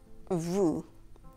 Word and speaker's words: vous: For example, let's take the subject pronoun vous, you in plural. Vous, V-O-U-S, with a silent S.